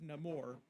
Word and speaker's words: Namor: my enemies call me Namor he pronounces it a little bit differently himself like he says no more just because they're changing